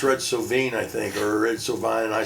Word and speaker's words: Red Sovine: And I said Red Soine. So maybe and I maybe I said Red Sine. And like the next week they got like 30 people saying your DJ doesn't even know how to pronounce Red Sovine.